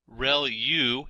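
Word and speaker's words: ReLU: there are multiple hidden layers like convolution layer real U is how that is pronounced when that's the rectified linear unit that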